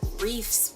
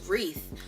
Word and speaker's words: wreath: and she was like oh no that's not how you say it's wreath and then I was